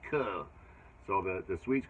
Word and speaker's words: Chur: And then we went over to, it's spelled C-H-U-R, Chur, but it's called Kudo.